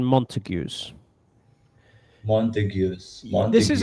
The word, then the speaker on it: Montagues: Montagues. This is Montagues. it's a strange words because they're actually Italian words, Italian names, but we have special English pronunciations for the Italian names.